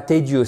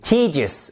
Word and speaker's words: tedious: Ennuyant, ennuyeux, tedious, et attention, c'est pas tedious, c'est tedious, ok?